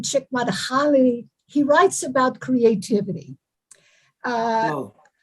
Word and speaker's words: Csikszentmihalyi: know that Lance, I'm probably pronouncing it wrong, but there is a writer, it's a long name, Csikszentmihalyi.